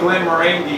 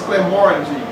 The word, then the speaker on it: Glenmorangie: We were saying Glenmorangie, and the guy was like, no, it's Glenmorangie.